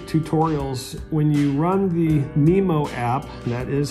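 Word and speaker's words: Mimo: of the quick tutorials when you run the Nemo app that is how you pronounce it it has various tutorials that actually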